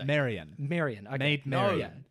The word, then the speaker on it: Marion: Ann maid Mary yeah but Marion O'Meara it's pronounced Marion Marion I made know yeah okay Marion Reneau